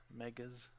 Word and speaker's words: Megas: I don't know if I can pronounce this, so I'll just spell it out. MEGAS. Megas XLR. Yeah, is that how you say it? Megas? Megas.